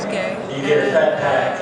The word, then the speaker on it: Guay: Everybody thinks it's Guay, and it kind of should be based on the spelling. And I kind of wish it was sometimes. Raise your hand. But it's pronounced Gay.